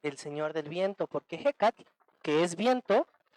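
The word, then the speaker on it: Ehecatl: La primera palabra se pronuncia ejecatl. A ver, ayúdenme a pronunciarla ejecatl.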